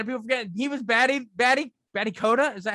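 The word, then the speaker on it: Batty Koda: but a lot of people forget he was Batty Coda. Is that how you say it? Yeah, he was Batty Coda.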